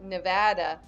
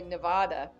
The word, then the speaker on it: Nevada: He said it more like Nevada, and I say Nevada. Nevada. Nevada. Okay, so maybe I'm pronouncing it.